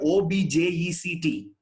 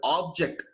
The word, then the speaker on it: object: Some people pronounce it object. Both are correct in two different places. I say this again. Both are right in two different places. Where? When you take it as a noun, that guy takes the long vowel, object.